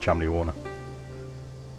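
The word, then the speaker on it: Cholmondeley: um chimney wall right it's not how it's spelt but it's pronounced chumley warner so just be aware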